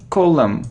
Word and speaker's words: column: o : no no we don't pronounce N and M column like here : look